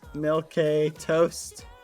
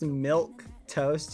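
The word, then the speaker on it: milquetoast: discouraging I'm very discouraged just for the record it's pronounced milk toast you Philistine it says milk milk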